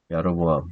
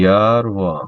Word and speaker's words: 야로보암: 야로보암 보통 뭐 여로보암으로 많이 하는데 제가 볼 때는 야로보암 이렇게 발음해야 돼요.